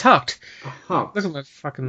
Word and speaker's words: Haacht: No, it's Haacht.